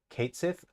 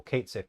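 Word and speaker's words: Cait Sith: it they say um Kate Sith okay I'm glad I'm glad they're not doing like the the traditional Irish pronunciation because it's I know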